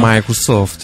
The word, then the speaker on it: Microsoft: Donc faut savoir que Apple et Microsoft, donc là vous voyez que je les prononce à l'américaine. Microsoft, yeah.